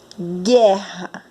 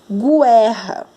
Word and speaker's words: guerra: Quando nós pronunciamos guerra, nós não conseguimos ouvir o som do U. Para ouvir o som do U, nós deveríamos falar guerra.